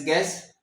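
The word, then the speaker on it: guess: मिसाल है जी यू E double S गेस। तो यहां पे क्या हुआ है? यू आपका साइलेंट है।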